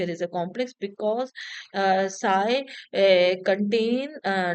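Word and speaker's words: ψ: is written over here we pronounce this as a sigh.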